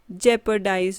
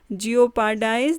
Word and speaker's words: jeopardize: Sidhi pronunciation जेपर्डाइज. Don't pronounce it एज जियोपार्डाइज. This is jeopardize.